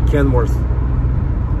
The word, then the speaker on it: Kenworth: Кто-то меня поправлял, что Kenworth. D там никогда не было и никогда не будет. TH произносится как F. Kenworth.